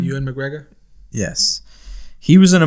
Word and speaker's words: Ewan McGregor: Well, I was showing him with Ewan Greg. How do you say his name? Ewan McGregor?